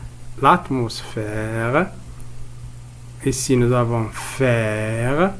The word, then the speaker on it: l'atmosphère: L'atmosphère. L'atmosphère. Ici nous avons faire. Alors le son F s'écrit ici PH.